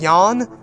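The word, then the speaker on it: Yahn: his travels across the galaxy yes subscribe that yon why a H n is how it's spelt in the sequence is saying goodbye to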